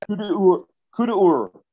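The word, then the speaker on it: coup d'œil: But both Jomini and Clausewitz talks about the coup de, or it looks like coup d'oil. How do you say it? Coup d'oil. Okay. It's that inspiration that I'm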